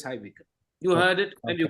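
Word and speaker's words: High Wycombe: Okay, it's high Wickham. You heard it and you could pronounce it.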